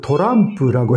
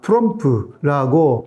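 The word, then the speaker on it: Trump: 그리고 제가 차크 도람프라고 했거든요. 그래서 그것 때문에 굉장히 웃으리가 되었는데 그게 그러니까 일본의 표기 법에서는 도람프라고 나와 있어요. 그것을 그대로 머리속에 들어가 있으니까 트럼프라고 발음이 안 나오는 거예요.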